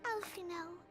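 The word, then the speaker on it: Alphinaud: Oh, Alphino. So the D in his name is silent, right?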